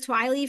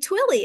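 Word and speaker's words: Twilley: l l y um I thought it was twily for a long time and then someone else pronounced it and they were like twilly and I was like oh I knew that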